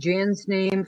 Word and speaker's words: Jan: And Jan's first name is spelled incorrectly. It's not Ian, it's Jan.